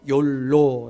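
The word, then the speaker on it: YOLO: 2 영어 문장의 이 첫번째 이니셜 알파벳 이니셜을 에 따서 욜로 라고 이렇게 발음을 한다는 거예요 우리 이 한국사의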